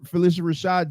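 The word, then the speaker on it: Phylicia Rashad: What I've been saying Felicia Rashad.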